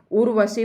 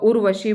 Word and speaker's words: उर्वशी: और ये उर्वशी है उर्वशी बोलोगे जो ये मात्रा रहती है ये जिस अक्षर पे लगी हुई होती है उससे पहले इसका उच्चारण होता है तो उर्वशी बोलेंगे हम इसे ठीक है अब इसके